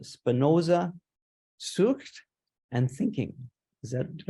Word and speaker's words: Spinoza: recently in Jerusalem he's writing a book called Spinoza and thinking is that did I say it